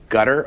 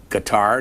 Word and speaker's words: Qatar: christopher hitchens you've been in gutter or in guitar depending on how you want to pronounce them you mingle the woods